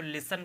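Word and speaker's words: listen: hustle फिर ये होगा एल आई एस टी आई एन लिखा हो इसको लिसन पढ़ते हैं आप जानते हैं टी नहीं पढ़ा जाएगा इसमें लेसन पढ़ेंगे इसको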